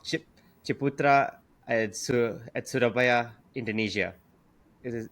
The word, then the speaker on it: Surabaya: chipra at sur at surabaya Indonesia. Is it is it sura Indonesia? Suraba Indonesia. Uh yes. How do you how do you suraya? Surabaya from Surabaya Indonesia.